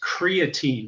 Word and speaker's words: creatine: I believe yes but Larry is actually mispronouncing the protein he's talking about is creatine it's different from creatinine his health supplement is called creatine he's supposed to help